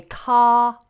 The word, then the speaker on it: car: is a consonant so therefore R is going to be silenced we say car park car park but if we say